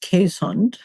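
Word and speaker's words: Keeshond: But in case there are any dog breeders listening, it's pronounced Quesund.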